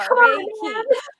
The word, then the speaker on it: Reiki: Yeah, Ray, like the I've been practicing all day. Key, like opening a door. Reiki.